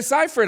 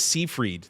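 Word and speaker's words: Seyfried: Amanda Ciphford. I've been saying her name wrong my whole life. I thought it was Seaff Freed this whole.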